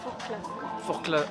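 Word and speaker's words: Forclaz: S'appelle le col de for for cl. Très bien. On prononce pas le Z, vous allez voir.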